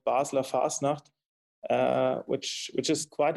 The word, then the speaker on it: Basel: the carnival of Basel in German it's called basa uh which which is